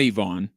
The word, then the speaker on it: Ivan: middle name is not Ivonne but his first and last are it looks like Ivan Ivan it is pronounced Ivon Ivon he'll be there Sam